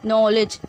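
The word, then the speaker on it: knowledge: नॉलेज, के pronounce नहीं हुआ।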